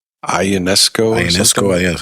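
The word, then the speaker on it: Ionescu: Ionesco. Ionesco. Yeah, that's how you spell it.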